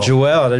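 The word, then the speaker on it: Juel: bring up the mic 2L but it's spelled j-u-e-l Jewel yeah the jewels my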